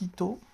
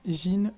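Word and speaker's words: 人: Alors la lecture japonaise c'est Hito, hein, Hito. Il faut bien prononcer le H. Et la lecture chinoise c'est Jin ou Nin.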